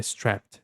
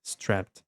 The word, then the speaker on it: strapped: Então, strapped, strapped, veja que termina com som de t, por mais que a palavra ela é escrita e termina com som de d, então fica strapped. Strapped.